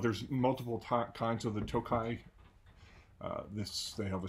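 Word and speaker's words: Tokaji: um it's in a hungarian dessert wine called tokai um i've looked up several times and several told me to pronounce it it's pronounced tokai it's a wine from a region in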